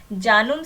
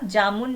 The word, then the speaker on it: जानुम: उसके बाद हो भाषा में पद्मश्री से सम्मानित किया गया है, जिसका नाम है, यहाँ पे थोड़ा सा स्पेलिंग गलत है, जानुम सिंह सोई होगा, जामुन नहीं है, जानूम है, ये जानुम सिंह सोई।